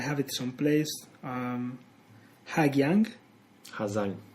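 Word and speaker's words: Hà Giang: Ha Giang. The GI is pronounced as a Z in Vietnamese. Okay. Well, in the north, if you're in Saigon, it will be pronounced. So Ha Giang.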